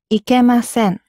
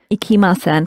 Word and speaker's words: ikimasen: And the reason why we were particular about your pronunciation, because sometimes ikimasen can sound quite like ikemasen, and they mean completely different things.